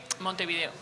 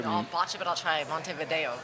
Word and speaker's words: Montevideo: well can you say Montevideo how you were saying it you said mother so so the V in Montevideo is pronounced B though V is like